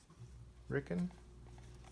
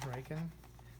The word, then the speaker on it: Riken: out some new ones I was pronounce it riken ricken they say Rick but it's r i Keen riken they' been around a